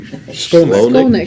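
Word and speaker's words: Shkolnik: Napoli Skolnick. Skolnick? Skolnick. H is silent.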